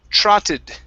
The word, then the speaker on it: trotted: a miss okay good this word here is pronounced trotted okay with an ah sound instead of trotted true it's tra trotted very nice uh this